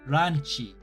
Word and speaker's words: ランチ: In lunch, you should really pronounce the ranchi.